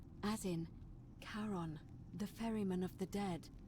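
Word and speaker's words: Charon: c h a r o n as in karon the Fairman of the Dead karon who in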